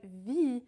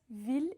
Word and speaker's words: ville: Usually when you have I, L, L in French, it will be the sound E, like famille or fille. But ville is actually an exception. We pronounce the L in it, ville, and not vie. Because actually, if we did